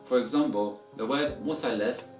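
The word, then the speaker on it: مثلث: today in the lesson, in Egyptian Arabic dialect, we learned that in order to pronounce this word, you need to pronounce it with letter sin or the S sound.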